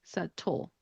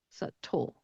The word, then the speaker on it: subtle: Still omit the B. I don't really know why it's there. We don't really pronounce it. But you would say subtle, subtle.